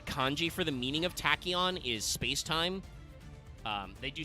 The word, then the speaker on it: Tachyon: they write the kanji for the meaning of tachon is spacetime um they do still say in like the pronunciation that it's pronounced tachon but calling it SpaceTime dragon is like nah